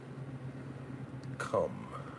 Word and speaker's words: Kum: Come.